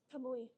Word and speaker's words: Kamui: Kamui.